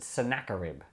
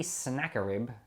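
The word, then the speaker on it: Sennacherib: is king senna sharif a lot of people pronounce it sanaka rib which to me just doesn't sound right to me snakarib it just sounds like you're guessing to me senator reeb looks right or sounds a bit more middle eastern i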